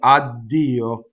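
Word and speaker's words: addio: the other one right people used to say to god ah do everybody said odd deal becomes spelled with two DS la is a week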